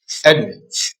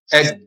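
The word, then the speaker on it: אֱדוֹם: And in pronunciation, now it will be pronounced Edom. Edom. Very brief.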